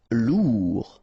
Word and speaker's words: lourd: Lourd. Final D not pronounced.